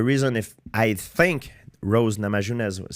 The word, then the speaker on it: Namajunas: Rose Namajunas? How do you say her? Namajunas, yeah.